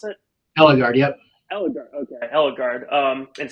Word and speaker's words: Ellegard: Is that how you pronounce it? Ellegard, yep.